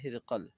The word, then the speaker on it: ہرقل: صحیح جواب ہے ہرقل۔ اس میں کئی تلفظ ہے، ٹھیک ہے، ایک تلفظ ہرقل بھی ہے، ہرقل یہ بھی ایک تلفظ ہے۔ حضرت خدیجہ رضی اللہ عنہ کے چچا زاد کا نام کیا تھا؟